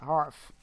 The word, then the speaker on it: Harf: Harf is pronounced Harf, where I live anyway. Harf. Oh, it's not Herf, it's Harf?